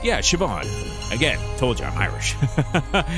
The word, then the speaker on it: Siobhan: hallway from earlier oh interesting okay huh uh seal bond i think it's siobhan siobhan it's pronounced yeah siobhan again told you i'm irish hey lmcp how